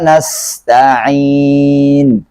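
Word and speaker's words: نستعين: Iya karena budu wa iyyaka nasta'in nastain disini pakai Sin Terkadang ada yang saya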